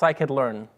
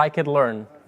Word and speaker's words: scikit-learn: that my you anymore and also it's it's pronounced I could learn maybe you can all stay together so I could learn okay there's a lot of people mispronouncing your